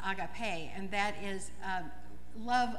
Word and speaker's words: agape: love agape is uh we say it agape but the more correct greek pronunciation is agape and that is a